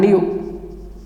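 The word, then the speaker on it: knew: The past tense of no, new and new. Here K remains silent.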